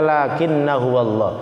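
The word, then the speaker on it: لَٰكِنَّا هُوَ ٱللَّهُ: Terus dalam surah Al-Kahfi lakinna huwallah, tulisannya lakinna huwallah, dibacanya lakinna huwallah. Hamzahnya tuh apa, alifnya tuh alif ziyadah, itu ada tulisannya tapi tidak dibaca.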